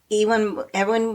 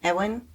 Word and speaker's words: Ewan: Edwin McGregor. How do you say his name? Edwin McGregor? Edwin McGregor? Well, it's Ewan. Edwin, okay, Mm-hmm. with no D.